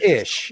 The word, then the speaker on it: Eash: say your name it's ish it's it's it's pronounced as if it was spelled i s h the ish factor yeah